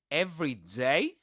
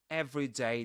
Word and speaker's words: every day: Usually the stress goes on day.